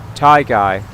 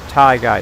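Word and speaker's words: Tyguy: 69 obviously uh but this is the link to Tai guy that's how you say it his channel name is t y guu y 266 but it's said Tai guy that's how he wants it to be said so his name is Tai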